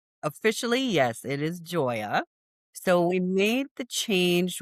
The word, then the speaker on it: Joia: So Joya I still look at it and say Hoya but it's pronounced Joya officially right officially. Yes it is Joya.